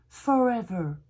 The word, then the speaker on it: forever: On va partir avec un joli mot, pour toujours, forever, où il y a deux R. Forever, on dit E, remplacez le R par un E. Forever, forever. Et ben voilà, vous avez la prononciation anglaise, et ça marche pour tout.